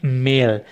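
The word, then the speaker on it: Mehl: हैं फ्लावर, और जर्मन में उसको कहते हैं मेल, मेल हो गया MELL, मेल, ठीक है।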